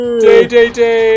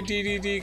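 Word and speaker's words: Dedede: Day-day-day is how it's pronounced in Japanese, but Americans say DDD because that's how it looks like that's how it literally looks.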